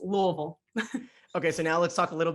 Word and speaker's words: Louisville: So it's Louisville, right? You kind of have to like swallow the U-L. Yeah, I was told you have to say it like you're saying it with something in your mouth.